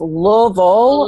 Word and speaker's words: Louisville: up in Louisville Kentucky if I say it properly it's Louisville and eventually stopped no too many syllables Jenny it's it's like one long sentence a syllable and a half yeah stop that eventually